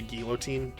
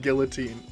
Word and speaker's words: guillotine: just executed by a gillotin you know I don't know why I said it like that ignore me the L is silent and Guillotine Guillotine sorry let's see I want